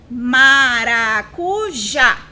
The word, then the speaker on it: maracujá: a última da palavra Então vamos lá maracujá maracujá o som mais forte é o já para nossa sorte como